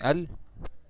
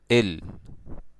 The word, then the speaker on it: ال: So instead of saying al, okay, which is pronounced like that, I'm gonna say there's a change in the pronunciation is going to be said right now. Instead of saying al, okay, instead of saying it like that, okay, I'm gonna say il. Okay, this is how we pronounce that article in the Egyptian accent.